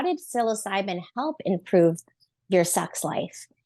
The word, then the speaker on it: psilocybin: Silo I don't I don't know how to pronounce sbin psos cybin there we go I you say magic mushrooms magic mushrooms or silos cybin how did silos cybin help improve your sex life and it's interesting